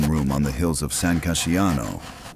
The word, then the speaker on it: San Casciano: on the hills of San Casciano, pronounced San Ca-scia-no, and wrote the most dangerous handbook ever placed in a ruler's hand.